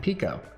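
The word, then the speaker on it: Peko: distance between me and Pico. I know it's probably pronounced Peiko, but I like saying Pico.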